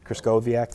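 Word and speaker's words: Krystkowiak: Uh Chris, man, Larry Kriscoak, I think is how you say it correctly. Kriscoak, there you go.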